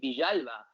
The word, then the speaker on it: Villalba: He's Argentine born, and he pronounces his name Villalba.